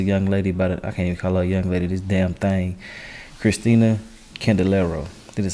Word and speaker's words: Kristel Candelario: Kristel Candelario. This is how you pronounce her name.